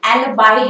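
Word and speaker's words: alibi: इसका correct pronunciation एलिबाई है।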